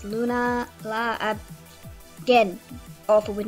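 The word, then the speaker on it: Lunala: up next is lulana lulana I L lunana I think that's how you pronounce it it's Luna La again awful with names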